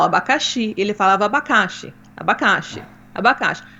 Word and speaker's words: abacaxi: não entendia que era abacaxi né com a sílaba tônica na final abacaxi ele falava abacaxi abacaxi